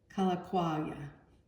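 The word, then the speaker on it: Kalākaua: Kalakaua, that's how you say it.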